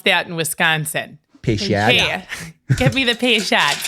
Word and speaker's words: Peychaud: And you're going to want Peychaud's bitters, which looks like Peychaud.